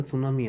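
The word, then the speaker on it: tsunami: समुद्र के अंदर जो भूकंप आता है उसके कारण सुनामी आती है और टी से स्टार्ट होती है मीनिंग। अब टी साइलेंट होता है इसमें।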